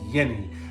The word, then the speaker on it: Yanni: But Yanni was, Yanni as we called him originally, but just like the Greek folk singer, but known as Yenny, apparently, because that's how you say it in French, I believe.